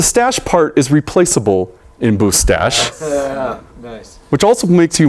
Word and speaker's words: Boostache: You might be confused and want to call it Boostache. That's wrong. It is Boostache.